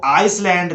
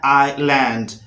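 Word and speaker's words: island: जैसे इसको आइसलैंड बिल्कुल नहीं पढ़ना है, इसको पढ़ना है आइलैंड, आइलैंड।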